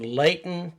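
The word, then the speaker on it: Lehighton: location was the Waldorf Estate of Fear in Leighton, Pennsylvania. Leighton, Pennsylvania. Yes. Oh, wait. Leighton. Yeah. Spelled with a C.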